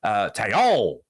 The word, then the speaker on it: Taillon: I think I've been saying his name wrong for the last couple of days. Taillon was how you say it.